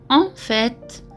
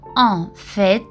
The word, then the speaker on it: en fait: La différence entre en fait, au fait, en effet. En fait, le T à la fin se prononce. L'expression en fait est utilisée pour parler d'une situation réelle ou